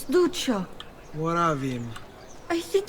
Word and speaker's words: Duccio: But she mispronounced his name. She pronounced it as Duccio. I'm pretty sure it's Duccio, as you'll see in a second.